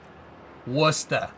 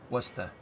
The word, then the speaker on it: Worcester: Worcester. You gotta say it right. Worcester.